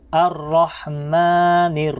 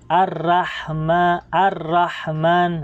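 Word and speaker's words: الرحمن: Okay, bilog din pong pagbigkas natin ng ra, makapal po, hindi po siya manipis. Huwag po nating basahin ng Ar-Rahman. Okay, ang tama po ay Ar-Rahman, Ar-Rahmanir Rahim.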